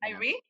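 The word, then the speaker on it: Arie: India Irie. Irie. Irie? That's right pronunciation.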